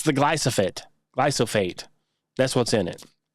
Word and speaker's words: glyphosate: It's glyphosate is how you pronounce it.